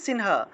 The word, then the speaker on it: সিংহ: কারণ আমরা জানি অনুস্বার যদি কোনো শব্দের মাঝখানে থাকে তাহলে সেটা ন-রূপে উচ্চারণ করতে হবে, তাহলে সিংহ শব্দটা সংস্কৃতে উচ্চারণ হবে সিনহা, সিনহা, বোঝা গেল।